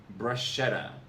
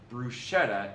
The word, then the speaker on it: bruschetta: This is because in Italian, SCH comes only before E or I, and it always is pronounced like the English SK. Thus, it's not bruschetta, it's bruschetta.